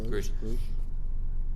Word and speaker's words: Grusch: What's interesting though is this latest whistleblower, David Grush, I think his name is pronounced Grush.